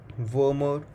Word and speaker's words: Wermer: MEN 1 syndrome is also known as Wermer syndrome. Please pay a specific emphasis on the letter M, as there is another syndrome which is called a Werner syndrome, spelled with WERNER syndrome, which is a syndrome involving rapid aging.